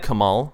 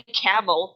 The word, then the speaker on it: Kamal: So Parsley says, "Hey, Camel," like he calls him Camel instead of Kamal.